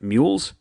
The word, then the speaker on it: Muules: by the name of mules I'll spell that one for you it's m uu l s I didn't say w because it sounds like you're saying the letter W Get It Anyway check